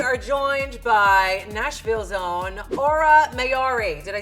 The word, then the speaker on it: Aura Mayari: joined by Nashville's own Aura mayari did I say it right absolutely it's either I get Aurora Menorah Aurora mayori but it's it's Ora mayari so tell me about